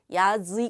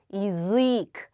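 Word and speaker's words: язык: 있습니다 의에 있습니다이 경우에 야는 어떻게 읽는다 예 이로 읽는다 그래서 야즈 아니라 이즈 역시 길고 높고 강하게이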